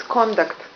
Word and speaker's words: conduct: conduct here it's conduct well it's conduct yes because of the stress is on the second one that's why it's to conduct Ive flowers thank you